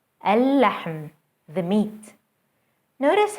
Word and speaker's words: اللحم: اللحم, اللحم, the meat.